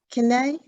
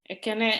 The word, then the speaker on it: Ekene: I think I can't pronounce is it Kene? Can you let me know how to say it? Ekene, it's my daughter's name.